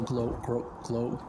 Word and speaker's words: GloRilla: I feel like it's like flow rider, but you should put a space in between to make it easier.